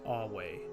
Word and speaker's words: Ave: be seen in the greeting a meaning hail pronounced as awe or in vulpus in culta introducing himself pronouncing